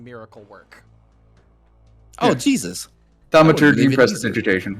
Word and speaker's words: Thaumaturgy: The spell is called Thermagurgy, and it's a big fancy word meaning miracle work. Oh, yeah. Jesus. Thaumaturgy and prestidigitation. 1 divine, 1 arcane. I think you even said it wrong.